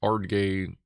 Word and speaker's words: Ardgay: We have a special, we have a small place in the Highlands called Ardgay. Pronounced Ardgay, not really any better, to be honest.